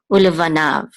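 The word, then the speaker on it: וּלְבָנָיו: This yud is silent, or it takes the sound of this kamatz. Okay, ulevanav, and the u part means and.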